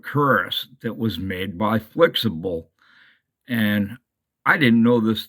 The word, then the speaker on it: Flxible: the flexible company but it says here it's actually you're supposed to pronounce it as flexible and this is Opa